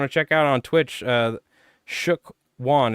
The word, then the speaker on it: Shookwon: If you guys on YouTube want to check out on Twitch, Shook Wan. It's spelled SHOOKWON.